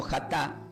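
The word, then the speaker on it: חטא: Y la palabra pecado del hebreo se pronuncia como jatá y significaba errar.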